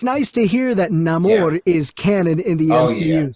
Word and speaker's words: Namor: I would read the Namor comics before I heard his name pronounced. In my head, it was Namor, and then I heard like Stan Lee say Namor. It just depends on where you're from, I guess.